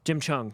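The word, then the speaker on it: Jim Cheung: I don't know how to pronounce the name. Jim Chung? Jim Chung.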